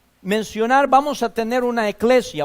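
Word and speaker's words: ἐκκλησία: Viene de una palabra griega que se pronuncia o se puede decir en nuestro español, eclesia.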